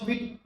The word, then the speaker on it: Vite: देखो विड इसको फ्रेंच वाले क्या बोलते हैं? प्रोनाउंस विड विड बोलते हैं इसको।